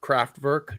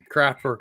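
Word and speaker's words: Kraftwerk: of craft work Jill um you've never heard of craft work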